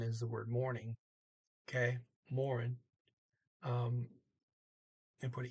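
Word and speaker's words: morgen: still more and because a lot of people skip the middle they don't pronounce the g or the e um you see here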